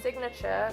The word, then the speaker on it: signature: In signature, pronounce the G.